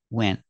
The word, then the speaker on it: went: N is between vowels in this case the T is like a silent T you can make a stop te and make the position of the tea he went on a diet or some people don't pronounce the tea at all and you just hear went went on went on the tongue goes up a little but you don't really hear anything he went on a